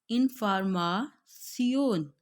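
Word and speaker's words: Information: लेकिन साउंड थोड़ी सी, इंग्लिश में हम कहते हैं इंफॉर्मेशन लेकिन हमारे पास जो जर्मन में है हम इसको रीड करेंगे इनफार्मासियोन, इनफार्मासियोन।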